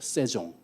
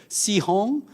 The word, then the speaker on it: 세종: 저는 제 이름을 지켰습니다 세종 이렇게 했는데 발음들을 못해요 시홍 시장 세홍 뭐 이런 식으로 예 아 그것도 발언